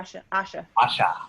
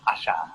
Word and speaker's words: Asha: Is that how you say it? Asia? Yeah, Asha. Asha, like that.